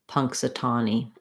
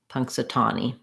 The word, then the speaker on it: Punxsutawney: easier for you to do tommy versus tawny it won't matter too much in this word and then lastly e y just has the e sound so i would build this from the stressed syllable trying tani satani punxsutawney you can also try one syllable at a time slowly and then build up your speed so that would sound like punk satani punk satani punxsutawney then next looking at